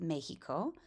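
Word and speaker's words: México: In Spanish, it's pronounced Mejico.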